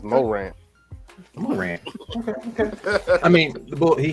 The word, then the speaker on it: Morant: How do you say his last name? Is it Morant? Morant. All right, you know, he ain't trying to act like he's Creole or nothing.